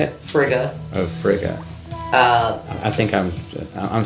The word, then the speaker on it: Frigga: Frigga is my patron. How do you say it? Frigga.